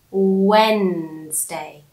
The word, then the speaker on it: Wednesday: And notice how Wednesday is written is Wednesday, Wednesday. But when we pronounce it, we don't say Wednesday. We say Wednesday. You don't hear the D, the wed. You don't hear D. You hear when, when, Wednesday, Wednesday.